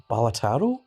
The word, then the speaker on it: Balatro: Although I've heard that Balatro is supposed to be pronounced Balataro or such. Something like that. It's supposed to mean Joker in Italian.